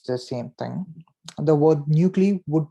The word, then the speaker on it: Nucle: Okay, it is not pronounced Nucle Saga. It does not rhyme with the word with knuckles. The word actually has been derived from the keyword nucleus, and the pronunciation that I would rather prefer you all to address the title as the Nucle Saga.